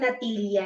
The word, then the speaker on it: natilla: Yung, di ba yung natilla nila dito? Natilla. Yung L, double L kasi nila pronounce like ya.